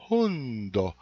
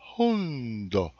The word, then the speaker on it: hundo: Então, nosso querido au-au aqui, é o H, vocês falam o undo e dão um sopro antes. Então, é hundo, hundo, que é cachorro, né?